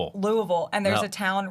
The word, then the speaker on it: Louisville: That's like like you know people say Lewisville or Louisville and it's Louisville. Louisville.